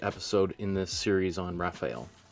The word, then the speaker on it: Raphael: in this series on Raphael or rapel as I've heard him sometimes pronounced as okay use some blue